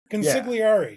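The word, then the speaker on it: consigliere: Hey, uh Luke, so help me out with my pronunciation, but your newsletter is uh your your moniker is the Mariners Consiglier. Concigari. Conciglari.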